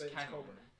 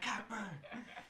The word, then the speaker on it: Cockburn: I mean, I don't know how you get Coburn out of that pronunciation, to be perfectly honest, but the 3 announcers I think it's Coburn.